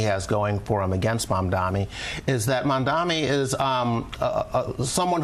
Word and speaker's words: Mamdani: They consistently mispronounce his name fucking hell. Yeah, they keep doing the Cuomo MAMDANI thing. I feel like MAMDANI is easier to say than MANDANI.